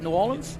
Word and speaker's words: New Orleans: Orleans as like have I said it right New Orleans yep there you go uh he's also been